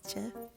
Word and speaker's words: GIF: image then you're gonna get a cap cut foreign by the way I know I'm saying it wrong it's Jeff but I like get better so I'm gonna keep using them and there it is